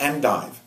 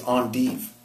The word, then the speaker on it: endive: You don't pronounce it just the way you spell it because it comes from French. It's not endive. It's endive.